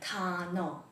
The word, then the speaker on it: 단어: Because this circle-shaped consonant is silent, we kind of pronounce it like 단어.